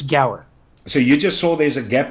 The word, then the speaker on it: Guar: Yeah, it's some people pronounce it Gower, but a lot of people just say Guar or Gar or something like that. So however you want to pronounce it, you feel free. So technically, I believe it's Gower.